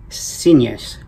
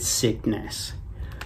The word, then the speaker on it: Signes: In that part of Spain, they do pronounce it Sines, something like that.